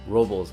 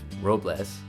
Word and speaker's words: Robles: Paso Robles, yes, it's pronounced Robles instead of Robles, is located in central California, about 30 miles north of San Luis Obispo.